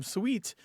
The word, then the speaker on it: suite: saying but but generally there's a regional difference here and you can map it out you can literally put pins on a map and show at least these days that the people say bedroom suite uh tend to be uh everywhere but the South and the people say bedroom suit tend to be in the American South so when you can